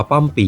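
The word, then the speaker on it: ป้อมปี่: ไป ป้อม ปี่ คำ ว่า ป้อม ปี่ ออก เสียง เพี้ยน มา จาก ภาษา กะเรี่ยง ว่า เปอร ปี่ หมาย ถึง ต้น อ้อ เป็น สถาน ที่ พัก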